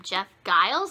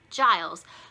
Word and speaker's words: Giles: We've been calling him Giles, and it's actually Giles, which sounds weird, the J sounds, but I'm sorry, Jeff, that I mispronounced your name.